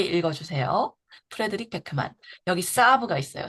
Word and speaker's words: Saab: 프레드릭 베크만 여기 사브가 있어요. 사브가 SAAB라는 스펠링을 쓰거든요. 사브 자동차 브랜드예요. 한국어 책에 사브라고 나오잖아요. 영어로 사브라고 하는데 되게음 독보적인 어 이미지를 가진 자동차 브랜드입니다.